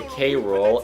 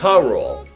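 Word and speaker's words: K. Rool: that they pronounced a k-roll and they only do it three times king k rool king k-roo and then for the rest of the show they pronounce it rule since i didn't exactly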